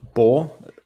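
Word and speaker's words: בא: first verb would be bor this word is always pronounced bo so and and the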